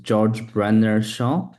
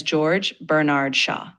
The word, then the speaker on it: George Bernard Shaw: George Brer Shaw. You pronounce his name as George Bernard Shaw.